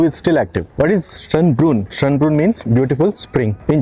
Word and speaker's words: Schönbrunn: And right now I am here at Schönbrunn Palace. I think I am saying it correctly. Let me check. But not me, not me. Yeah, as expected, I said it wrong. It's Schönbrunn Palace.